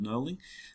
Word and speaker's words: knurling: you can grip them that's called knurling with the silent k um but what we're